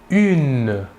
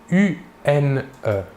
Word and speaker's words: une: Pour l'article indéfini féminin singulier, nous utiliserons l'article une. Une. Il s'écrit UNE. Il faut bien différencier la prononciation entre le masculin et le féminin.